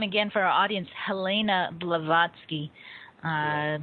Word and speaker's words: Blavatsky: say her name again for our audience Helena blavatsky uh b a v a t v a TSK k y blavatsky right it's a fascinating individual uh but so